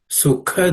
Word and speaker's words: sukha: The K is the second letter in the K varga, so it has to be a K class of consonant, so it has to be aspirated.